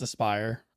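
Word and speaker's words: Aspyr: of surprising because if anyone's proven they just do shit, it's Aspire, right? Like they put out that Battlefront It's collection. Aspire? That's how you say it? Yeah. Yeah, it's Aspire.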